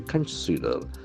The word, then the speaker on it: consider: The other one is an infinitive of verb, to consider. To consider, CONSIDER. So consider is a verb. Consider. Consider. The accent falls on the second syllable.